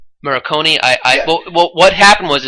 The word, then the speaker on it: Morricone: music that plays that Ennio, how do you pronounce his last name? I believe it's Morricone.